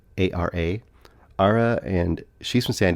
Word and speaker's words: Ara: It's Ara, A-R-A.